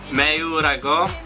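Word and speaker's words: 뭐라고: Or in Korean, it's pronounced Meurago.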